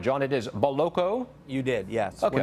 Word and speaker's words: Boloco: he joins us now have I got the pronunciation right John it is boloko you did yes we're not in we're not